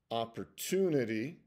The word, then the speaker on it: opportunity: following words: return, disturb, opportunity. That last T is kind of like a DY, opportunity, opportunity, and not necessarily opportunity, opportunity.